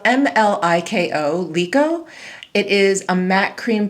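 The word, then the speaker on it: Mliko: So the top row from left to right, we have, it's spelled M-L-I-K-O, Lico.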